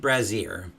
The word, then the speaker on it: brazier: final blow knocks Amaranth back, toppling an ancient brazier. I never know how to pronounce that name. Hang on. This is bothering me. I'm going to go ahead and look it up. Let's see. Brazier.